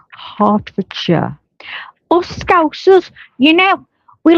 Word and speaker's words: Hertfordshire: See, I would say Hartford Shshire. Well, you told you, but it's Hartfordshire.